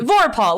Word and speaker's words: Vorpahl: Let's get Vorpahl, like the guy's name.